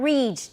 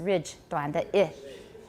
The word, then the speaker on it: ridge: desk ridge alveolar ridge not reach don't say reach it's ridge alveolar ridge good alveolar